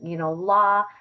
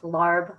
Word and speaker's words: larb: And so we would be eating, la, which is like pronounced larb, lab, in different ways, depending where you're, buying the food from.